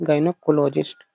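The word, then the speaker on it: gynaecologist: देखो गाय ना ईकोलॉजिस्ट गायनकोलॉजिस्ट गनकोलॉजिस्ट गायनेकोलॉजिस्ट इसको ब्रेक कर देना गायनाकोलॉजिस्ट गायने गायने इसको बोलो गायनेकोलॉजिस्ट गायनेकोलॉजिस्ट ठीक है वुमन वुमस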